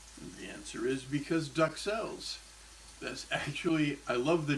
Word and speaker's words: duxelles: When you have an excess of minor royalty, you have a Duxelle. And that's a better pronunciation.